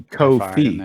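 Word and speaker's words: Ko-fi: your imagination yeah I I always pronounce it co-file like Wi-Fi because they've got the Dash it could be Kofi because you're helping pay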